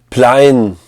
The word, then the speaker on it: Plein: You know, Plein in French, we could pronounce it Plein, so it kind of alludes to being plein aux as, which is like being rich as piss.